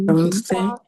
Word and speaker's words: danser: There is no r sound in the end.